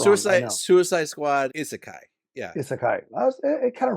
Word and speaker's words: isekai: First of all, it was not hentai. I know it's not hentai. I said it wrong. Suicide. Suicide Squad. Isakai.